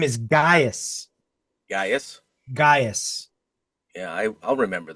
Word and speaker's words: Gaius: It's spelled Gaius. Gaius.